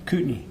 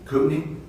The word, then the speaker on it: Kootenai: and then here in, is it Kootenai? Kootenai. Kootenai, okay. So Kootenai County, that's the locals say it, okay.